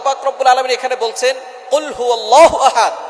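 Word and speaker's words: قُلْ هُوَ: আল্লাহ পাক রাব্বুল আলামন এখানে বলছেন কুলহু আল্লাহু আহাদ। এখানে কফ দিয়ে পড়ছেন কিন্তু অনেকেই ভুল করে উচ্চারণ সঠিক না হওয়ার কারণে তারা পরে কাফ। কুলহু আল্লাহ।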